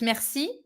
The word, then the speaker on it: merci: salma it's good but you can get rid of the final e at the end of mercy okay just merci i and that's it there is no final e merci beaucoup welcome home